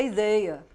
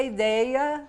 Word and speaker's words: ideia: as pessoas mais expansivas nós falamos com esse som aberto mas em Portugal e em outros países de língua portuguesa a pronúncia ideia é fechada e não é aberta então para unir ficar